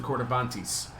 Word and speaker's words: Corybantes: I'm sorry, I'm pronouncing that wrong. I need to get over this. It's the Coravantes. The B is actually more pronounced like a V, according to somebody who speaks Greek.